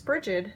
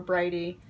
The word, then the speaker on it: Brigid: And since my new goddess that I'm really working with the most is Brigid, or Bridie, or Bridget. Like, there's 1,000 ways to say her name.